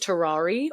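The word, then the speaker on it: Tarrare: century French showman named either you could pronounce it terrari or terrar t a r r a r e it feels more French to say terrari but this man could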